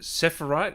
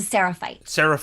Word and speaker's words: Seraphite: So you were is it Sephirite? Is that how you say it? I was a Seraphite.